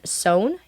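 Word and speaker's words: Sone: We have Valdon Sohn. He's also 4-star. I read that as Stone, too. That's funny. It's S-O-N-E is how you say his name. Yes, and he is 6'4", Sohn.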